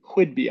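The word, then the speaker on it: Whidbey: somehow we I think I'm kind of mispronouncing it's like like wh ey I think okay Whidby Island okay um so we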